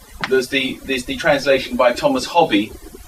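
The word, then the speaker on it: Hoby: translation by Thomas Hobby, as I think he's pronounced, rather than Hobie, as he's usually pronounced, of the Cortigiano of Castiglione, and that is Sir Thomas Hobby. I think he's pronounced Hobby partly because he's spelt double B-I-E on many manuscripts, and partly because his emblem is a hobby hawk.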